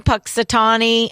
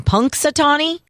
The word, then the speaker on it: Punxsutawney: this day in 1887 Punxsutawney I'm saying that wrong Punxsutawney I thought you said it right the first time Punk sutani and Punxsutawney